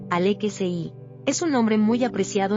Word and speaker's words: Alexis: En francés, en Francia, el nombre Alexis se escribe exactamente igual, pero suena con la musicalidad característica del idioma, Alexei.